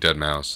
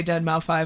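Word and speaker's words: deadmau5: is that how you pronounce it I think dead mouse like you pronounced the five you have to pronounce the five I would say dead mouth five I hope you know that I know it's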